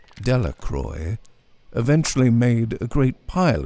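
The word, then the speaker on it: Delacroix: and Harry Jones and Dicky dequa the villagers pronounced this name delacroy eventually made a great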